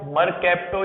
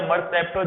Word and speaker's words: mercapto: Now prefix में अब आप इसे मरकैप्टो या मरसेप्टो जैसा आप प्रोनाउंस करना चाहे वैसा प्रोनाउंसिएशन कर सकते हैं, MERCAPTO, इस तरह से हम प्रीफिक्स लिखते हैं, मरकैप्टो या मरसेप्टो।